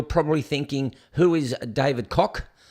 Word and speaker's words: Koch: Now, to you people over in the US, you're probably thinking, who is David Koch? Which it is pronounced cock. So don't go, it's not a Koch.